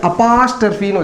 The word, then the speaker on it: apostrophe: ஓ pitch இதை வந்து அப்பாஸ்ட்ரபின்னு உச்சரிப்பாங்க இதனுடைய உச்சரிப்பு அப்பாஸ்ட்ரபி அம்மாஸ்ட்ரபி தாத்தாஸ்டரபி எல்லாம் கிடையாது இதனுடைய உச்சரிப்பு அப்பாஸ்ட்ரபி அப்பாஸ் சொல்லக்கூடாது அப்பஸ் டிக்ஷனரி எடுத்து பாருங்க அப்பஸ்ட்ரபி அப்பாஸ்ட்ரபி இதனுடைய உச்சரிப்பு ஓகே சரி இந்த அப்பாஸ்ட்ரபி